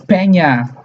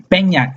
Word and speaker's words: Peña: Peña, Eñe, with the N with a little thing on the top. Eñe. That's how we pronounce it that's how Latins pronounce it. The Eñe. It's not N, it's Eñe.